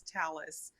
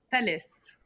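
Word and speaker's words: Thales: Well, this is one of many conversations that we've had, but it's talis. Talis or the way that Yeah, the way that the French people pronounce it is uh tales.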